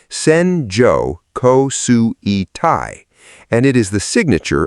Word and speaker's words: Senjo Kosui Tai: Japanese meteorologists have a name for the band this produces, Senjo Kosui Tai, pronounced Senjo Kosui Tai, and it is the signature of the country's worst rainfall disasters.